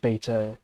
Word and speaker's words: beta: Like Beta, most sort of British people will say Beta instead of Beta, and Omega instead of Omega.